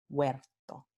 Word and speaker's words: huerto: Tenemos hue, H-U-E al principio de una palabra, la H-U, w, va a formar esta semiconsonante w, huerto.